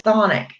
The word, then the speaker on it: chthonic: a lot of the demons in Hades are considered chthonic or chthonic, however you want to pronounce it. It's CHTHONIC.